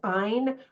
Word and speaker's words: Ayn: And I want to say Anne, but I think it's Ayn Rand.